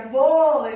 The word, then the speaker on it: vôlei: E aqui a gente tem uma paroxítona que é vôlei, né? A sílaba tônica é um vô.